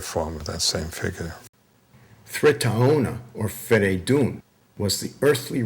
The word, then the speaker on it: Thraetaona: It's Thraetaona. The AO doesn't mean AO. In Avestan, it's pronounced Ao.